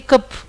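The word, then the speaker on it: Kapha: Et beaucoup de personnes prononcent, en Inde, beaucoup de personnes prononcent les noms des doshs comme vot, pit et kop. Ils enlèvent la dernière voyelle.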